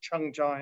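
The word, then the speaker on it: 청자: The Chinese term for celadon is qingzi, the same two characters used in Korean and Japanese, pronounced chengja in Korean and seiji in Japanese.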